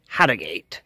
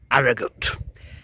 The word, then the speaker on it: Harrogate: And yes, it is pronounced Harriate, not Aragut.